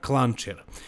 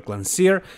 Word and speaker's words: Klancir: I understand totally but really his name is pronounced petar clanger but it doesn't matter let's call him Peter clancier and he is my